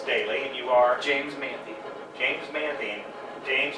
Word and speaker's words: Manthe: and you are James manthey James manthean James as we switch the two syllables on your last name it would be James the man right yes sir James the man James